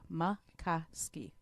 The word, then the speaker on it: Maikoski: Maikoski.